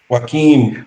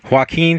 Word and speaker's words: Joaquin: Phoenix how do you pronounce how do you pronounce his name Joaquin Joaquin Phoenix as Commodus or the son of the